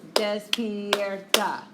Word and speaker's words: despierta: Despierta. So you move backwards, second to last syllable, and the accent goes on the vowel in the second to last syllable.